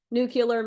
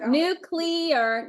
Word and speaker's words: nuclear: to do with nucleus nucular makes you sound like somebody who doesn't know what they're talking about like H nuclear nucular nuclear yeah